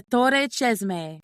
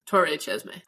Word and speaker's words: Torre Cesme: It is the place of the Torre Cesme and it's also pronounced like that, too. The rolling of the R, the Torre. Or if you can't roll your Rs, Torre Cesme.